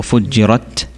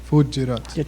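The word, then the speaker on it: فُجِّرَتْ: His mistake was there's a little air at the end of the ta. I see. So fujirat. Fujirat.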